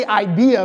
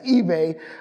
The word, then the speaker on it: eBay: say your name eBay E I always want to say IA because it's IB and I want to say IA so bad it's eBay uh and then the